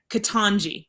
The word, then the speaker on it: Ketanji: Ketanji.